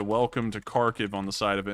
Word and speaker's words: Kharkiv: it says welcome to kharkiv and you know if you say it in the russian pronunciation it's welcome to karkov which is almost the same thing it was very cool